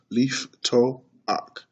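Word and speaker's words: לִפְתּוֹחַ: So this word to open has 3 syllables, lif toach, and the shiva is illustrated with the apostrophe.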